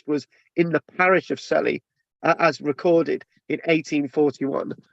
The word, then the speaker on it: Sully: In the present day, the country in the present day, the country people pronounce the name Shilly. I've run out of space. They refer to it as Shilly, right?